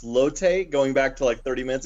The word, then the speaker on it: Lotte: I want to also add in it's pronounced Lotte.